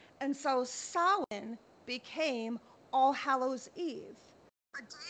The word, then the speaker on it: Samhain: Celtic culture, and it was a holiday called Samhain. Now, I want to make a note of pronouncing it correctly because it's spelled Samhain, but it's pronounced Samhain.